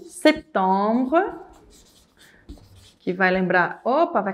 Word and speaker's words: septembre: Mas também eu não posso falar “setembre, setembre” Para eles soa ligeiramente errado.